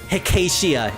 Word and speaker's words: Hecatia: Hey guys, Hecharia? I think it was Hecharia? Hold on, I can scroll back in the chat to find it at some point. Hecatia, it's Hecatia, yes.